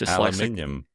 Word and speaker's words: aluminium: I'm just aluminium.